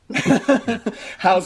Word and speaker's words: Hou: Oh, it's How. How. H-O-U. I'm listening to the pronunciation. It sounds more like ho.